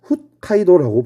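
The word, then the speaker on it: 北海道: 첫 번째, 이 위의 섬을 북해도, 얘를 일본어로 읽으면 홋카이도라고 불러요. 대표적인 도시로는 삿포로.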